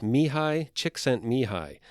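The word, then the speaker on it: Csikszentmihalyi: everyday life and the author's name name is Mii chicksen mihi which it it does not look like that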